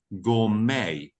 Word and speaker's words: gourmet: Now it's pronounced gourmet.